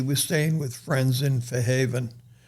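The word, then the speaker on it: Fairhaven: She was staying with friends in Fair Haven. That's how they say it down there, for Haven rather than Fair Haven.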